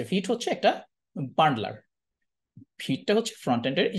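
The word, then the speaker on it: Vite: ভিটটা কি জিনিস, এই যে ভিট হচ্ছে একটা বান্ডলার, ভিটটা হচ্ছে ফ্রন্ট এন্ডের, এই যে ওয়েব প্যাক যেরকম আগে ছিল ওয়েব প্যাককে রিপ্লেস করে ফেলছে ভিট। এটার উচ্চারণ কিন্তু ভাইট না, এটার উচ্চারণ হচ্ছে ভিট।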